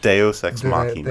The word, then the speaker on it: Deus ex machina: Deus ex machina.